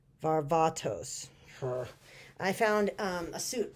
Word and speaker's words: Varvatos: a fine and a half as a John vavartos let me say it right Varvatos I found um a suit but the suit